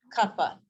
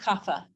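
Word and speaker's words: कफ: there's no, or sorry, in Sanskrit, there is no F sound. So like PH, if you were to see this word, how would we say that? Kappa, kappa, kappa, kappa. It's not kapha.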